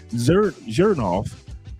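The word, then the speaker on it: Xerjoff: to leave, but that Zernoff brand, I hope I pronounced it correctly. Zernoff X, or was it I think I pronounced it correctly. Zernoff. Wait a minute. The X makes a Z sound.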